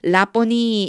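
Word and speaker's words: Rabboni: 그러니까 우리는요 라보니 이렇게 불렀습니다라고 하고 뒤에 선생님이란 뜻입니다.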